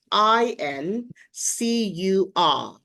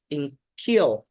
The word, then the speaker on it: incur: And the word is I N C U R. Sometimes people mispronounce this word as incure.